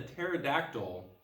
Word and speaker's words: pterodactyl: know that when a pterodactyl goes to the bathroom you can't hear them do you know why that is it's cuz the P is silent ha ha thanks to